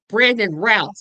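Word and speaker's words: Brandon Routh: And so um Oh, it's Brandon Ralph because it's pronounced like South.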